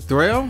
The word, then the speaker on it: Dwele: Dwele, how you pronounce that? D-W-E-L-E, that's his name.